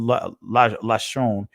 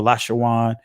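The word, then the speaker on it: לשון: That's what lashon or lashawan means right there, or lashan.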